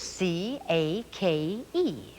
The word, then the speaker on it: cake: c a k e now there's that silent e at the end of the word and we know that silent e tells the other vowel to say its own name so the a in cake says a cake but look at this